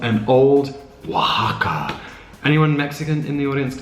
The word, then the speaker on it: Oaxaca: This, the one I'm making, it's called an Old Oaxaca. Anyone Mexican in the audience can tell me if I'm pronouncing that right?